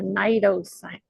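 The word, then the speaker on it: cnidocil: to spell that name it starts with a C but the C is silent this is called a Nido Sil okay now these nidos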